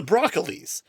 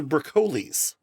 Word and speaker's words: Broccoli: There was a family that used to own the Bond rights called and I thought it was the Broccoli because I never heard it pronounced but apparently they're pronounced the BCles.